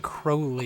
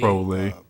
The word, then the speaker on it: Crowley: He pronounces the name Crowley. Crowley. Is that a common pronunciation? Because I've always heard Crowley. I've always heard Crowley as well.